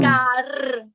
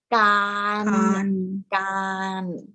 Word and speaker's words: การ: การ It's not gar. Is this not gar? Because if it's an ending consonant, it is normal sound. So that's why it's pronounced gan.